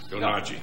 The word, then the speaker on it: Kuroyanagi: She is with us tonight, and I hope I pronounce her name right. Her name is Tetsuko Kuro Yonagi. Yonagi.